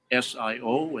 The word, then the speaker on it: Sio: But for people who may not see the recording, my name is spelled S like Sam, I-O, S-I-O, and it's pronounced Sio.